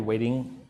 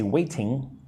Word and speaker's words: waiting: Notice again, I always say this, but in American pronunciation, the letter T is usually kind of soft when it's inside of a word, right? I don't say waiting. I usually say waiting like a du duh.